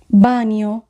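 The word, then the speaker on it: bagno: এখানে জি উজ্য থাকবে বানীয় বানীয় টয়লেট এখানে যদি বানানটি খেয়াল করি তাহলে আমরা দেখব সবার শেষে আছে জি এন এ অ জি এন এর উচ্চারণ হবে নিয়া বানানীয় এখানে জি উজ্র আছে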